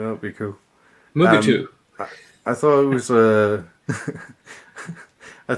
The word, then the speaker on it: Mugato: I just mispronounced that again. Well, that'd be cool. Mugato.